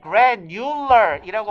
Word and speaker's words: granular: 원래는 granular이라고 발음하면 돼요. 그러니까 우리말로 쓸 때 그래뉴러 정도로 발음이 돼야 돼.